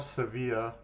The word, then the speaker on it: Sevilla: Now, we are up to the 269th Regiment, Seville. Or Sevilla, I believe, is the other pronunciation.